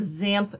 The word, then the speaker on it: XAMPP: to show you the basics for installing the zamp software you will typically here zamp pronounced as Samba the X being pronounced as